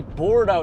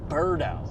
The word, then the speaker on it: Bordeaux: It's Charlie Bordeaux, not Birdo. Yeah, we've been saying it's wrong this entire time. We've been saying Charlie's last name wrong. I've been saying it wrong for like 4 years. I've been calling him Birdo, like Burrdo. It's Bordeaux, like boar.